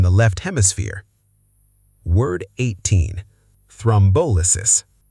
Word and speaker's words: thrombolysis: Thrombolysis. Equal stress is wrong. Correct. Thrombolysis. Thrombolysis.